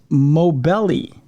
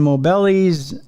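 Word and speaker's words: Moghbeli: Jasmine, I believe it's Mobelli is how it's pronounced.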